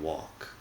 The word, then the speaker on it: walk: pronounces the L because nobody pronounces the L in walk it's silent the same as talk I see a walk